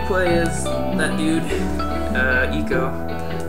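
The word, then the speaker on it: Ico: is that dude uh Eco some people call him Aiko but I heard it's pronounced e uh he finds zort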